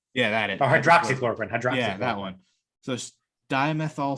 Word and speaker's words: hydroxychloroquine: How do you pronounce that word? Hydroxychloroquine or whatever that shit was? Oh, hydrochloroquine? Yeah, that is. Oh, hydroxychloroquine.